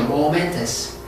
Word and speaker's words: momentous: momentous. 여기를 강하게 해봐. momentous.